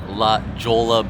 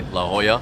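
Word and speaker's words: La Jolla: We are here at La Jola Beach, or as the locals say, La Hoya.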